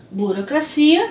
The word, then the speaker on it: burocracia: Burocracia, a mesma escrita, porém trocando o local da sílaba tônica. Então, burocracia em português, em espanhol, burocracia. Burocracia, burocracia.